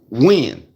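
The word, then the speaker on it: Nguyen: However the fuck you supposed to say it, because it's spelled with an N with a W after the N. Yeah. It's spelled like NWYUEGN. Some weird. However the shit is spelled, it's pronounced when.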